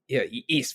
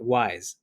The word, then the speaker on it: Ys: And Ys, very good. See, there is no way to get me to roll my eyes harder than if someone pronounces it wise.